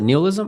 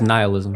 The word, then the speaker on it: nihilism: Is that how you pronounce it? Neilism. I thought it was nihilism or nihilism. Neilism. I think people pronounce it different ways but it's this Yeah.